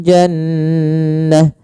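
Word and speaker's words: جَنَّة: Jannah. Maka di sini nun tasdidnya kita namakan dengan bacaan gunah. Cara membacanya adalah suara nunnya ditahan dulu n ya. Jannah, tidak langsung jannah.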